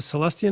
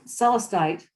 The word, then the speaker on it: celestite: so it was a celestia night celestia did i pronounce that right well clear celestite celeste thank you this is